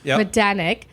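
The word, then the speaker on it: Majdanek: and you know what there's a J in there and I hear that the J is silent that's a hard one don't say the J medanic um concentration and extermination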